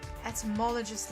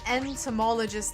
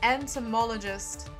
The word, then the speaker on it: entomologist: Got the ultimate enthmologist lab. Sorry, entomologist lab. I keep mispronouncing it. I keep mispronouncing it. entomologist.